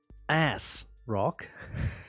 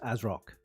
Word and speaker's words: ASRock: ASRock yeah it's just as rock but it's um but the rock is is more it's more um you pronounce the rock more so it's like you